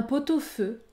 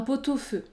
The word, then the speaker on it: pot-au-feu: jour un pot-au-feu un pot-au-feu j'effectue la liaison et je prononce le son un pot-au-feu ou encore un pied-à-terre